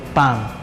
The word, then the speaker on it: palm: La L está en medio entre la A y la M, por lo tanto la L se elimina, quedando palm.